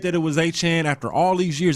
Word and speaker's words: Etienne: You got to pronounce his name correctly. Oh, that's right. He changed it. He changed the Achan.